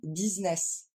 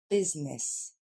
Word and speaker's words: business: vous dites quand même business ce sera pas des i en anglais mais des e donc business encore une fois business